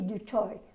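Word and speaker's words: du Toit: was a woman called Betty de toi which of course is he afrikaans to pronunciation under yes from the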